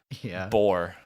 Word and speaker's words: Bor: And it was Odin's father, Bor, Thor's grandfather, Bor, which is Bor, kind of B-O-R, by the way. Yeah, B-O-R. Not spelled like a typical Bor.